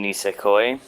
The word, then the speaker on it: Nisekoi: in the future but so first one is ness coy or that's how I've learned to pronounce it from friend of mine are Japanese Mountain nisekoi if you read it in kanji Ramon Ramon